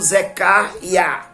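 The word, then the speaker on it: זכריה: é contemporâneo de ageu o nome zacarias ele tem a sua origem no hebraico pronunciando o zecaria que significa e a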